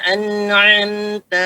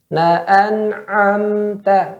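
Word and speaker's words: أنعمت: Siratal ladzina an'amta 'alaihim. A-nya enggak terbuka ya. Maka itmamul harakah penting juga di sini. Ya, jangan na'an'am langsung. Na'an'amta. Ulangin.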